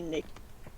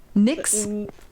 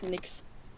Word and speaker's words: Nyx: And I adore the way you say Nick. Ninkx. How do you How do you say it? N. Nyx. Just Nyx.